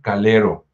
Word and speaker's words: Calero: cargo del fray Juan Calero. Es Calero con A, ¿eh? No lo vayan a pronunciar con U porque luego se les oye feo, así como partido de fútbol.